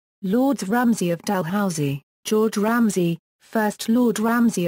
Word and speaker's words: Dalhousie: any other in Scotland the title of the eldm is pronounced DH house y Lords Ramsey of delh Housey George Ramsey first Lord